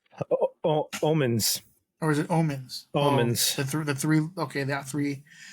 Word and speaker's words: Omens: Okay, so we got Bad Owens. Omens. Or is it Omens? Omens.